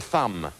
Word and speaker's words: thumb: Which consonant is silent in the word thumb? Rochelle? B.